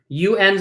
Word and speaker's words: un: UNs are pronounced un, right? Un, avion, avion, un, avion.